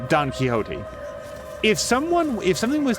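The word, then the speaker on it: Quixote: were reading the book you would say Don keyote or maybe kote um and it's spelled Q IXO T I think I'm not good with spelling but the x is silent you would just say Don kote if someone if something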